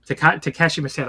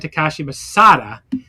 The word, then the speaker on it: Takashi Masada: And then we have a Chris Brooks and Takeshi Masada. I always accidentally say his name incorrectly. I always want to say the deathmatch wrestler. Yeah. Yes. Chris Brooks and Takashi Masada against Higuchi and Yuki Ishida.